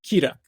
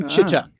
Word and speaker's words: Chituc: So in Romanian, where my family is from, it'd be pronounced Chituc. I grew up saying Chituc.